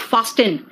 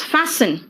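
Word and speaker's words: fasten: देखो विसल है नेक्स्ट देखो तो फैसन इट इज नॉट फास्ट इन इट इज नॉट फास्ट एन इट इज फैसन हेस्टन नहीं बेटा इट्स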